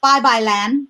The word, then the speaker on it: Babaylan: buy your amazing book that i'm going to pronounce right we are no longer bye bye land did i say it right the violin yes